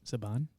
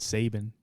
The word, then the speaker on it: Saban: Mighty Morphin Power Rangers is that how you pronounce it Saban yes okay I was said Sabin is either first name is either hyam or